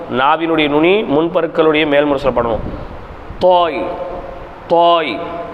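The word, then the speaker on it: طاء: தா தா தா தா தாவினுடைய உச்சரிப்பு என்னது நாவின் நுனி முன்பற்களின் மேல்முரசில் படுமாறு நாவை குவித்து உச்சரித்து நாவினுடைய நுனி முன்பருக்களின் மேல்முரசில் படுமாறு நாவை குவித்து உச்சரித்தல் நாக்கை அப்படி மடக்கிடனும் நாக்கை மடக்குனாதான் அந்த குவியல்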